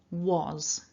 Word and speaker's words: was: that's the strong form if we're going to pronounce a weak form we need this weak schwa repeat after me so